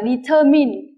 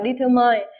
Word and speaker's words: determine: cũng đọc là ma Nhưng cái từ này determine đó đọc là in thì các em nhớ